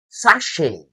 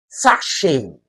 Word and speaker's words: sachet: That word is not sachet. That T is silent. It is sachet. sachet sachet They just pronounce it the sachet.